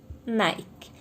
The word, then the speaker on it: Nike: Por exemplo, a palavra Nike, que é a marca do tênis. Se a gente for olhar, ele se escreve Nick, mas a gente já acostumou a falar Nike.